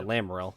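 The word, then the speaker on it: Lamaril: glamour rail yeah yeah um lit larol yeah lamril that's how you say it have a conversation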